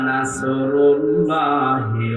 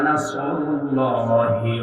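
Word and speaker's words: نَصْرُ اللَّهِ: আপনি যদি মুখটা গোল করে শুদ্ধ করে উচ্চারণ না করেন, অর্থ আকাশ পাতাল পাল্টিয়ে যাবে। আল্লাহ পাক বলেন ইযা জাআ নাসরুল্লাহি ওয়াল ফাত, হে নবী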